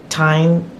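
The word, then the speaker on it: Tynn: And it's knit in Sunday Sandnes garn, and I think they pronounce it Tyne silk mohair, held together.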